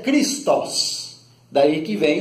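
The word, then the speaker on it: Χριστός: O termo ungido, na língua grega, se pronuncia Christos, daí que vem o nome Jesus Cristo.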